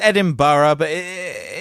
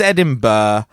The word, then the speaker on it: Edinburgh: University of Edinburgh UK is reporting and as Edinburgh says Edinburgh uh what what the what what you have to sling another syllable in there I like Edinburgh Edinburgh